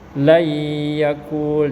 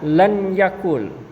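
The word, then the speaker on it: لن يقول: Bacanya adalah layak. Layakul dibacanya layak bukan dibaca lan yaqul. Tidak dibaca lan yaakul tapi layakl.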